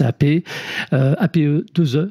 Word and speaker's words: APEE: Directeur développement produits et services APE 2E, c'est comme ça qu'on prononce.